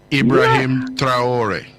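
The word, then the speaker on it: Ibrahim Traoré: How his name is properly pronounced. He is one of my. He is one of my heroes, sir. Ibrahim Traore, the president of Burkina Faso.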